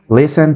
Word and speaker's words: listen: verbos son muy sencillos Listen Tell and read Listen Escuchar oír la t en esta palabra es muda no tien que pronunciar Listen sino Listen Listen la siguiente es decir